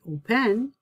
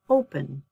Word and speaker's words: open: If your stress is on your first syllable, like open, I don't say open, I'm not going to open the door, I'm going to open the door. So my stress is on the first syllable, I do not double my consonant, opening.